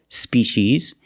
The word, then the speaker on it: species: and wish Spees both vowels are the long e like green beans Spees another thing that makes this word very special species is it is the